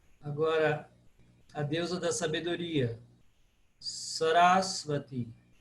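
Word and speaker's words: Sarasvatī: Sarasvati. Sarasvati. Pro paroxítona. Sarasvati. Porque o A é breve, mas é seguido de duas consoantes.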